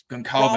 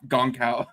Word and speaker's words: Goncalves: Goncalves. Okay, I've been saying that like an idiot. I've been calling him Goncal. I didn't know. I'd never heard it out loud before. Okay, that's how you pronounce it.